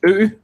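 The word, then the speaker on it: ø: one is today's like it's pronounced ooh which also means island alright then you have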